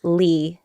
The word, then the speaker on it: Le: Vietnamese American yeah so the traditional pronunciation of the last name Le is Lay but I'm used to calling myself Lee l-e because growing up